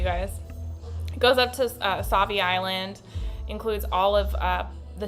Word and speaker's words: Sauvie Island: So Gresham, Troutdale, Portland, and then up to Sauvie Island, which I think this is still. You say Sauvie or Swati? Sauvie.